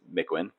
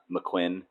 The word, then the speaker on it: Mikwen: name wrong again PSA you do not pronounce my name like a McDonald's sandwich it's mcin no emphasis on either syllable it's not mcquinn or whatever I've been hearing lately just mwin mckin